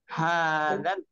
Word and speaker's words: هذا: হাদাল, দাল নরম হবে, অনেকে হাজাল পড়বে, হাজাল, হাদাল বাইত।